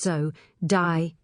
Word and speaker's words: Sodye: The name Sodye, I was told, is pronounced so, die.